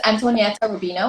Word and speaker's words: Antonia Rubino: is full name is antonia rubino i know it's not the easiest name to say but uh if you just pronounce it with the italian accent you can probably get it right and so i am